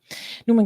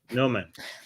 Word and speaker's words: Noman: I just realized I keep on pronouncing his name wrong. Noman.